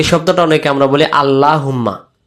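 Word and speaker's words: اللهم: শব্দটা অনেকে আমরা বলি আল্লাহুম্মা আল্লাহ শব্দ পড়ার নিয়ম হলো আল্লাহ শব্দের ডানদিকে যদি এরকম একটা জবর বসে যায় তখন আল্লাহ শব্দের লাম অক্ষরটাকে মোটে গোল করে ল মোটা হয় লুম্মা সল্লি আমরা এটাকে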